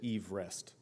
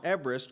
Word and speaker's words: Everest: someone and he and all of the british people the time pronounced pronounced it eve rest so we've been promoting mount everest wrong at least i have my entire life mount everest which sounds wrong is 29 032 feet